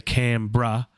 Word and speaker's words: Canberra: me say it then we say cambra and that's not how it's spelt though it's spelt canberra and uh australia is